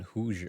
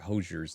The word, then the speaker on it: Hozier: Whoops. Hozier, not Hoosier. Hoziers.